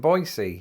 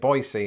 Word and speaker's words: Boise: at the airport in boisey also if you're wondering why I'm pronouncing it boisey instead of Boise that's how the locals told me to say it so if they lied